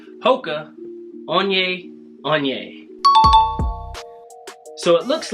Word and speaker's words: Hoka One One: to review for you the MOCA one one that's not how you say it it's actually coca on yay on yay so it looks like